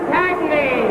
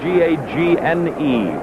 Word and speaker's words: Gagne: And this boy with his back to us, his name is spelled G-A-G-N-E, Gagne. But everyone here insists on calling it Gagne. I don't know why, but it's a French name, Gagne.